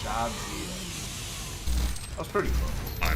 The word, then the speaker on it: Jadzia: Okay, so it's not Jadzia. It's Jadzia.